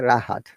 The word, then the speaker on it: Rahat: What happens if S R at the beginning of a word, we must pronounce it, like my name. Yeah, Rahat.